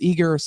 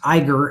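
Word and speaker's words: Eiger: uh and then just real quick uh this eager this eager software which is organize reinforce and optimize prints from anywhere so yeah what is eager of software so so it's pronounced Iger and it's actually I think one of the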